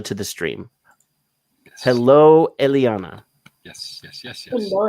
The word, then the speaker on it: Eliana: you say it right A lot of people struggle to say Elana but it's just Elana as is you pronounce it with the Latin language because Elana my origin